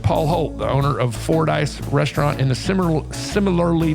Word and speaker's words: Fordyce: that could claim something as famous as the for dice can the very first line of Rolling Stones